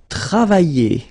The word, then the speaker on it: travailler: And then the first one, it will be travailler. Travailler. Okay, remember when you get this E and then double L like that and a vowel. Y. Travailler. Okay, travailler.